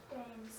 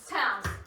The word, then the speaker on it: Thames: The name is pronounced Thames. Thames.